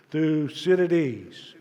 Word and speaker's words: Thucydides: a mouthful and that many people have difficulty pronouncing this fellow's name so let's do it in unison one two three through Citadis one more time one two three loose in